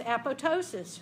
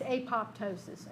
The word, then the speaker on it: apoptosis: call these names but it ought to be pronounced a PO ptosis shouldn't it just say yeah absolutely because that p ought to be silent because it's part of the word ptosis ya know it's a pop ptosis and there's nothing I